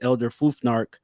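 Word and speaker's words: Elder Futhark: and that is uh Elder I always say it wrong but it's Elder fuar which is a language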